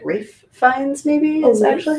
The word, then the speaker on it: Ralph Fiennes: Rafe Fiennes, phonetically.